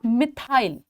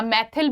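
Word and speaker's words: methyl: मिथाइल। मिथइल या मैथिल भी बोल देते हैं, मिथाइल भी बोल देते हैं। वह आपकी प्रोनाउंसिएशन है। मैथिल बोल दो, मिथाइल बोल दो, मैथिल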